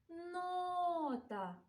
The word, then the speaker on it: нота: і на останок давайте визначимо наголос у слові нота Давайте прикликаємо його нота наголос чуємо у першому складі позначаємо рис дякуємо тобі